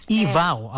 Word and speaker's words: EVAW: EVAW. Okay, EVAW, so that's how the acronym is pronounced.